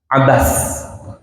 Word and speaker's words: Abasa: Baik, kita mulai pembahasannya surah Abbas atau kita biasanya menyebutnya Abasah. Padahal kalau baca yang ee tepat bahasa Arab itu disukunkan ya. Abbas kayak baca surah Annas gitu ya. Bukan surah Annasu gitu tapi Annas.